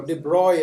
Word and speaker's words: de Broglie: And that is where this guy, de Broglie, or de Broglie as it is pronounced, he came up with a wave-particle duality theorem.